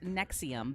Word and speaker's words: NXIVM: closing on this one so this one is pronounced nexium but it is spelled nxivm and it was